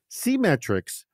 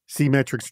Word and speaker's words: SeeMetrics: SeeMetrics, and you should know that it's spelled the way it sounds. It's the word see, S-E-E, and then metrics.